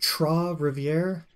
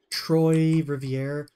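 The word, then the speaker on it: Trois-Rivières: Montreal to is it TR Rivier somebody told me how to pronounce it before it's like Troy but Troy Rivier I'm pretty sure it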